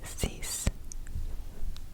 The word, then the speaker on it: six: sunk moving on to six six oops it's ceas CE CE CE ceas we have seven whiches